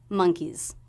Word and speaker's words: monkeys: Now here we're making monkey plural, so the S will be a Z sound, Z, because the sound before was a vowel, monkeys, monkeys. So just a very quick, soft Z sound at the end there. Barrel of monkeys.